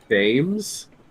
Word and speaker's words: Thames: Pronounced Thames. That's the River Thames. Oh yeah, Thames. Thames. Yeah. What? Thames. Thames. It's old sort of pronunciation.